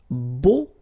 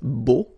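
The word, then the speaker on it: beaux: So we'll see now the plural version, and it's beau, okay? So you put this X at the end, but then you don't pronounce it, so it's beau, all right?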